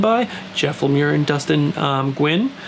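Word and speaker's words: Nguyen: Jeff Lemire and Dustin Gwynn. I think I was saying Nigel before, but it's actually, I heard it was Gwynn.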